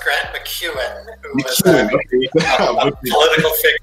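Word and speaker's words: Grant MacEwan: I know you went to, well, was it McCraw with Grant McCraw University in Edmonton? It's actually pronounced Grant McEwen, who was a political figure out in Alberta, Canada.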